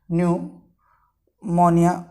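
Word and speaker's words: pneumonia: देखिए, इंग्लिश में अगर बात करें तो इसको इस प्रकार से पी साइलेंट रहता है, इसमें न्यूमोनिया बोला जाता है।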